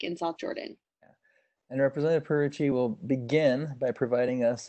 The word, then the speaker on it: Pierucci: real-time setting representative Candace and your last name purity how do you pronounce it perfect as our guests today are